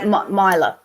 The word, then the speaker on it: Myla: You guys pronounce it right, but we pronounce it different. I call you Miller. So Myla.